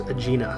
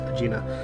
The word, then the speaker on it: Agena: vehicle the the atlas agena I think it's pronounced Gina the that mission failed